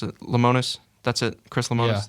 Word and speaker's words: Lemonis: mean he i think chris how do you pronounce it lemonis that's it chris lamont is the manager head